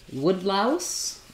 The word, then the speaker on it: woodlouse: the word woodlouse um so our word wood has the O vowel um compound word like uh it doesn't have an O it has an o a compound word like wood wood louse um we have these